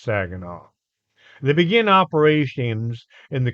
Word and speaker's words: Saguenay: It's Saginaw. It's not spelled Saginaw, but it's pronounced Saginaw.